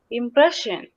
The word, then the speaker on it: impression: Yeah, Neruba, you got the answer, but you did not pronounce according to our lesson. One more time. Impression.